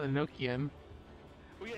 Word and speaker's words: Enochian: And called it Eno-chan. I pronounce it differently. I call it Enochian. Well, yeah, it's Enochian. That's how it's what it's supposed to be. That's the word. Oh, okay. Enochian coming from Enoch.